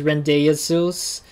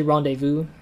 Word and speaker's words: rendezvous: kind of weird name it doesn't look like it's how it's pronounced run at first for me i thought it was rendez-sews or something but it was actually rendezvous that's how they pronounce